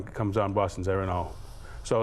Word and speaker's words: Erin Og: Boston's Erin Og, Yep. yeah. Erin Og, spelled O-G. Correct. But you know, it's Gaelic. It is, yeah. It's a Gaelic Yep. pronunciation.